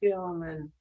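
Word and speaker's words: Guillermin: Yes, it was Gilliman.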